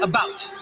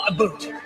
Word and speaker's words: about: I speak English and French, not American, and I pronounce it about, not a boot.